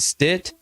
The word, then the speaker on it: Stith: not a myth just call Stith s TI th H sounds just like it's spelled on the next episode